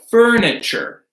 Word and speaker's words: furniture: We have furniture, furniture. So that T-U here that makes a C-H sound.